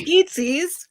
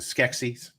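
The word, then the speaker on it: Skeksis: was species oh yes everyone uses eatsies what was that it's it's actually pronounced the skexies thank you because i'm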